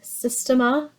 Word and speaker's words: Systema: It's a Systema. It's spelled like sister mixed with system.